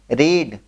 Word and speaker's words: read: Verb क्या है, पढ़ा, पढ़ना की इंग्लिश रीड, READ। रीड को तीनों फॉर्म में सेम होता है, रीड, रेड, रेड पढ़ते हैं, प्रोनाउंसिएशन अलग होता है और तीनों फॉर्म में एक होता है।